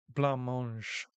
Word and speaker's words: blancmange: It's pronounced blancmange. Okay, blancmange.